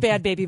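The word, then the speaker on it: Bhad Bhabie: the head Behav yeah that's pronounced bad baby but I say the head Behav cuz that's how she spells it yeah apparently what is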